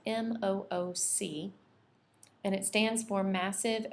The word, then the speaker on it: MOOC: to share with you another resource called mooc that's spelled m-o-o-c and it stands for massive open online course